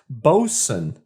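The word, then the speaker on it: Boatswain: boat swain diaper double ipa but apparently it's pronounced bosun apparently that is the way you say it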